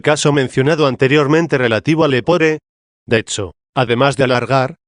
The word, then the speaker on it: lepore: mencionado anteriormente relativo al lepore. De hecho, además de alargar, hay que acentuar también la penúltima sílaba de esta palabra, si se ha declinado a partir del lepos y no del lepus.